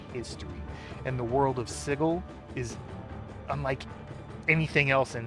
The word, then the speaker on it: Sigil: And yes, I said sigle, not sigil. I know it's spelled sigil, but the original creator of this, even though he spelled it that way, pronounces it sigle.